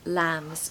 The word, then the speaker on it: lamb: they are first born now don't forget that that's a silent B I told you about this in the last lesson that there are a few words in English which have silent B's on the end so Lam is an example of that number 11.